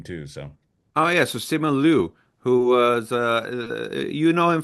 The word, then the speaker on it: Simu Liu: Okay, but on IMDb it's listed as Simu Liu. That's what I said. I said that actually. That I pronounced it right then.